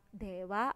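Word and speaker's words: では: Jadi menggunakan DH menggunakan H dalam hiragana tetapi membacanya wa, dewa arimasen.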